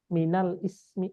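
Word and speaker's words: مِنَ الِاسْمِ: jadi alismi gitu aja alismi itu enggak pakai Hamzah dia Mask dibacanya Ismi tapi dia enggak pakai Hamzah Minal Ismi minalismi gitu minalismi Heeh minalismi Minal minalismi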